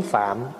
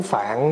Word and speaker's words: Phạm: gọn lại là tiếng Phạn đó mình nói tiếng Phạn đó chứ nếu mà nói phát âm cho đúng Phải nói là tiếng Phạm à Tại vì tiếng phạm